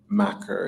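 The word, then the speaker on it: makar: Scotland the maker yeah I think it's Macker it's a it's not like the word it's like a scalic word Irish pronunciation Scottish Scottish innocent in Scotland yeah um but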